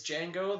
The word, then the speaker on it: Django: It's Django, the D is silent.